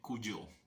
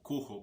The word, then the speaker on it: Cujo: Y estoy hablando de Cuyo, o Cujo, como se pronunciaría pues en español.